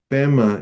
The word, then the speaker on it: Pema: Pema is the Tibetan pronunciation for Padma.